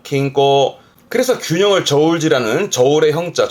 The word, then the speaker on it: 均衡: 발음은 킹꼬 킹꼬 그래서 균형을 저울질하는 저울의 형자 저울 형자가 됩니다만는